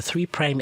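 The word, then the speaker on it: 3′: or nucleotides have a three prime end and a five prime end this is not a three apostrophe no it's no it's repronounced as three prime prime as in optimus prime so these nucleoside reverse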